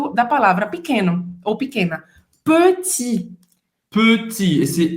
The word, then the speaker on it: petit: Petit. Petit. Esse E tá fechado. Petit, não é petit. Petit. Petit. É justamente aquele biquinho francês, que faz a boca do O e fala E.